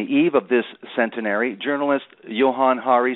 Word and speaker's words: Johann Hari: my name correctly as well okay Johan it's Johan Hari yeah you're very rare person who gets it